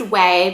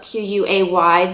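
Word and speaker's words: Quay: they're from that brand called way or it's pronounced way but it's not qu a why that like everyone has been talking about and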